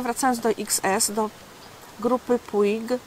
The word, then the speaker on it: Puig: Perfumy przynależały, wracając do XS, do grupy Puig, czy Puć, taka wymowa z hiszpańskiego, 94.